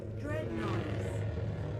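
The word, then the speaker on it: Dreadnoughtus: How do you pronounce it? Dreadnotis.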